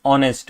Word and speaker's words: honest: Okay because uh because you know although the word is h but the pronunciation is honest which is o right.